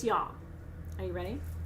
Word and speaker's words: yam: for you or not the heart chakra mantra looks like the word yam y-a-m but it's not it's yam so i'm going to